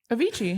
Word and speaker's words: Avicii: you say his name yeah not a VT Avicii yeah yeah Avicii Avicii yeah I'm gonna do